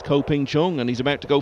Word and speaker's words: Ko Ping Chung: Well, no question about the pronunciation of this name. At least not as far as we know. It's Ko Ping Chung, and he's about to go four clear for the first time in the match.